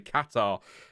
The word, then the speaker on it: Qatar: Qatar.